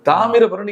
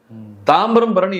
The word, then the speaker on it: தாமிரபரணி: கடந்த நதியை கடந்து வந்திருப்பார் தாமிரபரணி என்பது ஒரு மூன்றாம் வகுப்பு படிக்கக்கூடிய பிள்ளை அழகாக உச்சரிக்கும். தாம்பரம் பரணி என்கிறார் நான் என்ன கேட்கிறேன் அப்படி